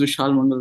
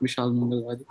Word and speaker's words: Vishal Mangal: this text even though I say my name is Vishal Mangal radii my name is not mishal mongal so please read in